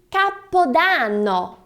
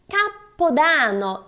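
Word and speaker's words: capodanno: você diria essa outra se diz capodano capodano e não capodano então capa dano e essa palavra significa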